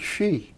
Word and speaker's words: Xi: pronounce it she. Xi? Yeah, Okay. like she's going down the street.